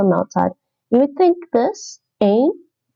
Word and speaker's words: een: You would think this een. It's not ain. It's not pronounced ain here.